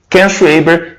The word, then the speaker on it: Ken Schwaber: Até para ver como que pronuncia o nome dele, né? Ken Schwaber.